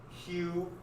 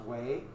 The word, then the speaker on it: Hue: you guys wrote down hue it's actually pronounced way this d is pronounced